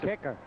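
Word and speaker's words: Kiecker: That's kicker. Okay. Dana Kicker. We got the official pronunciation guide.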